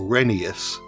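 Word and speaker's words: Rheneas: As previously mentioned, Jennings is the same type of engine as Reneeas or Renius since that's how you pronounce his name according to the railway series law.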